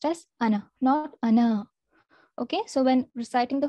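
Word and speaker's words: أنا: arabic without elongation so this has to be pronounced as ana okay so when reciting the holy quran as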